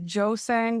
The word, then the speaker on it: Jøssang: My second name is Well, Joe Sang would be an easy way to pronounce it for English.